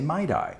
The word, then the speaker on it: MIDI: I have heard it pronounced M1D1 once in college at Texas Tech University. And also other people in Texas sometimes say MIDI as well, which is interesting. I think it's MIDI.